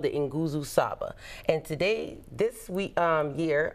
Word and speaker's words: Nguzo Saba: That is Nguzo Saba. Nguzo Saba. All right. Giovanni Richardson just taught me how to pronounce those words.